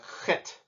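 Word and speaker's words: ח: this one's pretty self-explanatory the next letter is a crit but this as you see the transliteration has a an H with a little dot underneath of it that little dot underneath of it means that we will pronounce this with that clearing sound in the back of your throat like but it is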